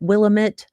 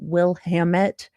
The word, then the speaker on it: Willamette: I did not understand that Willamette or Willamette was more like damn it than Wilhamette.